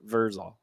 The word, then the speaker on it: Vrzal: Yeah, Vrzal.